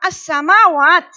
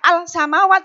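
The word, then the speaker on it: السماوات: Ya, cara membacanya itu dilebur. Ya, tidak al samawat salah. Karena sin ada sadda di situ, jadi itu dilebur. Ya, jadikan satu, masuk pada huruf berikutnya.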